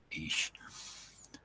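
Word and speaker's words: אִישׁ: Normally man, if you refer to like a husband or a boyfriend, other half, whatever, they would be called an Ish or an Aish. Ish. It's pronounced more like Ish.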